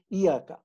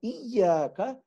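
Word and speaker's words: إياك: to give here is, many people say Iyaka. They ignore the Shadda. But please be careful. You cannot say Iyaka, the meaning changes into something else. So Iyaka is how you should actually pronounce this thing.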